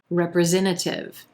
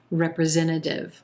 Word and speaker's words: representative: just disappears representative representative you'll also a lot of times hear this final t in this word sound like a flap t so it'll sound like representative representative like a quick d either pronunciation is